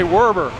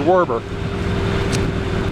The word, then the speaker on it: Werber: mess up his pronunciation I want to say Werber I can't remember his first name but it was were bur wa I mean it's wer ber or I know it wasn't Weber it was Werber he he